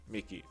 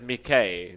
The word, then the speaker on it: Mikey: a long time ago it is actually pronounced mickey if i'm not correct john you and i did ask the man in lobby once and he did say his name was mickey yeah everyone says mckay because everyone's too afraid to mispronounce it yeah yeah i